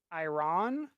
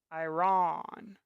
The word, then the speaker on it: Iran: For instance, Iraq or Iran, the A is how you pronounce the O in octopus. Iraq. Iran. No. Ah. Iraq. Iran.